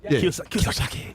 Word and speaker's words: Kiyosaki: Robert Kiyosaki shit. You know what I'm saying? And that's how you say it, right? Yeah. Kiyosaki.